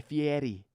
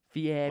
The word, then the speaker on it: Fieri: Fieri. Well, how do you say it? It's Guy Fieri. No, you're putting too much on it now. So the way I say it is Guy Fieri. Wrong.